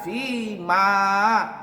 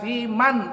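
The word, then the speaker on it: فيما: tawallait wa barik lana fi ma, pakai ma, fi ma a'tait. Ada yang baca wa barik lana fi man a'tait, bukan fi man, tapi fi ma, bukan fi man.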